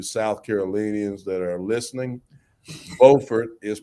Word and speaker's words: Beaufort: those of you south carolinians that are listening beaufort is pronounced beaufort in north carolina how about that so during